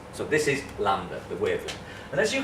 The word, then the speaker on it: lambda: It's pronounced as lambda, but that's just me showing off.